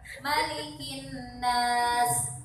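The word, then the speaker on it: مَلِكِ النَّاسِ: Malikin Nas. Ini dibacanya pendek, Bu, jangan dipanjangkan. Kenapa?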